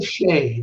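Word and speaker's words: Risacher: looking at with Dyson Daniels, the rookie Frenchman, Risa Shea, I think that's how you say it. Risa Shea, there you go.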